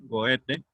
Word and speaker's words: Goethe: el romanticismo, lo habíamos dicho, empezó en Alemania con Goethe, escrito Goethe, con TH, Goethe, pronunciado Goethe, y que hemos mencionado ya dos obras fundamentales de él.